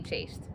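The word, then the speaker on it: chaste: waste it must be chased so i was right it's chastity but the word is chased because it rhymes with waste which is also a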